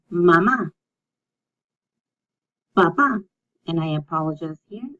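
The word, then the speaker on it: mamá: So that means there's emphasis on that. If you don't have it, then it's not a very appropriate word to say out loud. So you always say mama, papa, and I apologize here.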